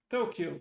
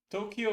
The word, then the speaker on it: Tokyo: Tokyo. Correct. One of the two. And oh, hang on. It's with a long O at the beginning, right?